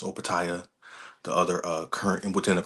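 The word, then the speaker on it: Opetaia: And the people now it's talks to him fighting, going to heavyweight fighting Usyk, fighting Jai I think it's pronounced Opataya, the other current within the cruiserweight weight class, the other title holder.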